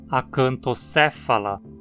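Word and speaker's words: Acanthocephala: Todos os três próximos filos também possuem uma vogal curta na penúltima sílaba, então a pronúncia precisa ser com acento na antepenúltima. Tardígrada, acantocéfala, quetógnata.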